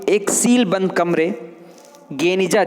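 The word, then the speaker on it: גניזה: 1896 में फुस्तात यानी पुराना काहिरा में बने इज़रा की यहूदी प्रार्थना भवन के एक सीलबंद कमरे गेनिजा, जिसका उच्चारण गनीजा के रूप में किया जाता है, मध्यकाल में यहूदी दस्तावेजों का एक विशाल संग्रह मिलता है।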